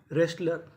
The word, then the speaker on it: wrestler: Right, written, wrong, रेस्लर। तो rule क्या था? अगर आपको आर से पहले डब्ल्यू लिखा मिले तो हमें डब्ल्यू का उच्चारण नहीं करना।